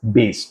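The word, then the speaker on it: bass: with a Bas chorus this is spelled pronounced as base okay now he's saying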